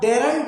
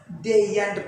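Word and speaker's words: daren't: अब लास्ट में देखिए डेयर नॉट, डेयर नॉट में आर को साइलेंट किया गया, क्या हो गया, डेयंट। अब डेरंट नहीं पढ़ेंगे, आप डेरंट नहीं पढ़ेंगे, क्या पढ़ेंगे भैया, डेयंट पढ़ेंगे।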